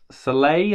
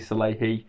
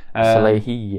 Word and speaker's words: Salehe: I used to say Salehe, I think, but it's actually Salehe. Salehe, yeah.